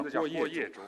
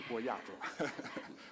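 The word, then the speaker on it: 郭叶洲: 我的名字叫郭叶洲，不是郭亚洲。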